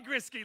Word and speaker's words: Grisky: Grisky, ladies and gentlemen. Rhymes with whiskey.